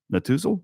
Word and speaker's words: Netusil: The easiest way is just go to Google and type in Raymond James, Clay, or Chase Natuzil.